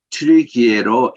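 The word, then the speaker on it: Türkiye: 여기가 우리 지금까지 터키로 이렇게 했는데 작년 말부터 거기에 현지인들 발음 그대로 튀르키예로 해달라고 해서 전 세계가 이제 용어가 다 바뀌었습니다.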